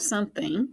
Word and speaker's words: something: And then the other part over here, not too tricky. TH says f and ing says ing. Ing. Thing. So if you can just get that first part figured out, some, and add the thing, you have something, and that makes it a little bit easier.